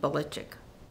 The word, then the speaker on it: Belichick: It really is pronounced in Croatian Belichic. And in Struthers, we all knew it as Belichick. And then when he ended up in the South, then they started pronouncing it as Belichick.